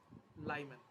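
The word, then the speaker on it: Lyman: First 1 নম্বর আসছে লাইম্যান বা লিম্যান, যেটা তুই ইচ্ছে উচ্চারণ করতে পারিস।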